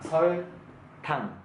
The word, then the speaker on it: 설탕: Okay, when I pronounce, try to remind the alphabet. Okay, sh sound, s sound, 아야, 어여, and then l sound, 설, t sound, and then o sound, 탕, 설탕.